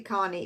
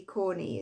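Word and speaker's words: Comey: Corney or Carney. It won't be Carney. It'd be Corney.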